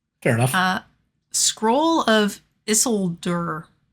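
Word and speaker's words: Isildur: enough uh Scroll of issolder stop making a fake accent Yanks that's how you say it it's a sealed bear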